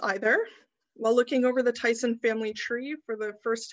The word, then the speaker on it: Teson: this is i know captain tyson's name is pronounced tyson because in some census forms and transcriptions his